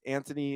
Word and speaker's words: Antoni: we have an amazing guest from Australia it's Anthony is that did I pronounce it right perfect what's what's going on